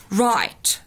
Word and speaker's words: write: write write، الW هنا silent وبنطق من أول الأور.